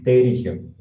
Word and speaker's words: pterigio: Terigio. Terigio, ¿no? Terigio. Terigio. Terigio. Perigio, con Sí. P. Ya, perigio. Con T de tapa. Ya, terigio. Se escribe con P, pero se... Pterigio es, ¿no?